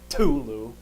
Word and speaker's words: Cthulhu: see tentacles and monstrosity of Cthulhu let me pronounce it correctly in love correcting Tulu uh kind of rubbed against him and does